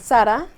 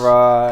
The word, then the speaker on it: Sara: I'm Sara. I have a background. Teach me how to say it like that first. Sara. Sara? You did too much emphasis on the A. Sara. Just Ara.